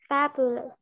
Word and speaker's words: fabulous: Fabulous. Trọng âm vào, trọng âm vào âm đầu tiên nhá.